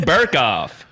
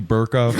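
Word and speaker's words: Berkoff: Is this guy's name really Burkoff? Yeah, Give me that Burkoff. shit. Give me the fucking... Your name are you allowed to have your name rhyme with jerk off?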